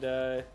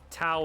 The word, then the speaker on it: Tao: Basically even between Dow, sorry, and Dow and Elliam. I honestly don't know if he would even object, because Tao and Dow are both accepted pronunciations.